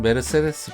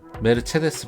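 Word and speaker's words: Mercedes: 우리나라에선 메르세데스 벤츠라고 표기합니다. 벤츠는 독일어죠. 그럼 메르세데스도 독일어일까요? 아닙니다. 독일어에서 C는 체로 발음합니다. 메르세데스가 아니고 메르체데스입니다. 원론적인 걸 좋아하는 입장에서 저는 메르세데스 벤츠가 아닌 메르체데스 벤츠로 바꾸겠습니다.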